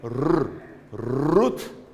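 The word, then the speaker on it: רות: Então aqui é rut rut rut se pronúncia se pronuncia o t no final rot t porque essa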